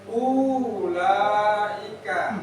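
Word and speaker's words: أولئك: Ini wawunya tidak terbaca. Biasanya juga ada tanda sukun. Ya. Ini bukan sukun. Nah, kalau yang nggak paham nanti dikira sukun. Nanti dibaca ulaika, tapi bacanya pendek.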